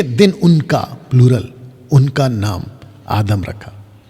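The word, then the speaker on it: Adam: उनका प्लूरल, उनका नाम आदम रखा। तो पुरुष का नाम भी आदम और स्त्री का नाम भी आदम। और आदम का सही प्रोनाउंसिएशन है आदाम।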